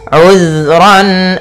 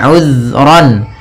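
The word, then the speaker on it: عذرا: Kemudian ayat selanjutnya uzron. Di sini uzron. Hati-hati dalam lafal zal. Usahakan ya. Usahakan di sini jangan sampai memantul. Jangan uzro gitu ya. Tapi uzron.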